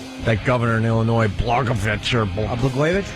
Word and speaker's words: Blagojevich: That governor in Illinois, Blagojevich, or Blagojevich? Blagojevich, right.